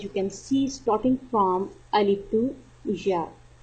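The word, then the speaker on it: ألف: Alif. Alif. Alif pronounced from the bottom part of the throat.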